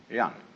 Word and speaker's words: jen: a human being is called Yan spelled Jen for reasons best known to Chinese Scholars uh I don't know